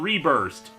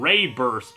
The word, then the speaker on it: RéBURST: looking at today Pokémon reburst and it's actually kind of in acccurate to pronounce it like that since it has the accented e in its name so it should technically be Pokemon ray burst or something it's a